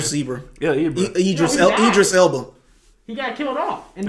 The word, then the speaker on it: Idris Elba: Eldris Ibra. How you pronounce his Eldris name? Zebra. Yeah, Ibra. Idris Elba.